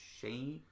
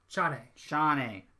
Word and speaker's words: Chane: And the main person in that faction is Huey's daughter, Shane? Chane. Dang it. It's spelled C-H-A-N-E, but they kept calling her Chane.